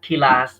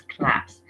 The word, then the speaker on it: class: Don't read kilas, it is class.